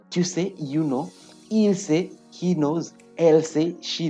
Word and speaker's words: sait: Then we have il sait. Don't pronounce the S. Don't pronounce the S. Don't pronounce the T.